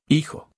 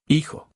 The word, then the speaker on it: hijo: Hijo. The H is silent. You do not pronounce it. Say son after the speaker. Hijo. Again. Hijo.